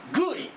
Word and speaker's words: 共利: 次 2 番目グリこれは共通のリアこれ仏教これグと読むんですね共通のリア共通